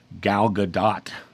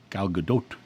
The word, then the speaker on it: Gal Gadot: a movie podcast and it used to bother me when they would say Gal Gadot because her pronunciation was Gal Gadot and I wanted the other the Godot and so I contacted